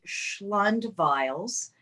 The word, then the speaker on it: Schlund-Vials: about mispronouncing my name it's uh tiny bottles of schlund that's the mnemonic device